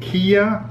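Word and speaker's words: Qi'a: This is called kia. Ke a h is how you pronounce it.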